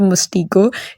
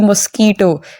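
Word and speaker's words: mosquito: दी है कि बेटा इट्स नॉट अ मस्टिको इट्स अ मॉस्किटो लेकिन हनी ने भैया उसको मस्टिको ही पढ़ा है।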